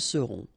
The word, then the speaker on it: seront: vous aurez, ils auront, final T not pronounced, elles auront. Okay? And then, for être, we will get, je serai, tu seras, il sera, elle sera, nous serons, vous serez, ils seront, elles seront.